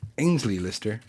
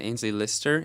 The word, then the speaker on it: Aynsley Lister: reporting this is by Ang's Lee Lister inside out and we are back that was a mean I think I'm saying his name wrong when I said again Aynsley Lister yes and so now for